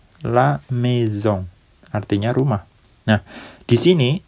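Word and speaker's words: la maison: pantai yang terakhir laamezong laamezong ya artinya rumah laamezong ada a bertemu dengan I diucapkan e kemudian ada S sendirian diucapkan Z ya kemudian ada n di sini yang huruf terakhir itu diucapkan sengau la meong artinya rumah Nah di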